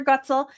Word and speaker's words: Goetzel: Goetzel is the way to pronounce it.